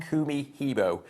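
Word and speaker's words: Kumihimo: Kumi Hibo. Say it as two words. Split it into two.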